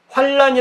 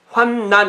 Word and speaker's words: 환난: 단 있잔아 환난 요 환난을 환란이 라고 번역하면 거기에 고는 잘못 빡 잘못 발음하는 거래요 환난 이렇게 바로 말이야 환란 이렇게 된 뭐냐면